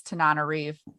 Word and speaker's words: Tananarive: When I first started like reading her stuff, I wasn't sure how to pronounce her name, and then I looked it up online, and she has a thing on her website, and it's Tananarive.